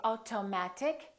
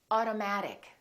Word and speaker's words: automatic: Auto, auto, automatic. We don't say automatic, we say automatic.